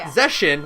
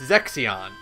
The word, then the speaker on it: Zexion: Like, there's one, the silver-haired, like, youngest-looking one, who is, like, the scholar, is not Zeshin, like I thought, it's Zexion.